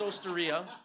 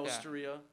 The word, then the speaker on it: Osteria: not right it's it's it's it's Osteria it's like traia Osteria yeah um but uh